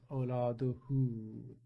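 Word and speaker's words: أولاده: And we pronounce awladuhu, kind of elongate a bit.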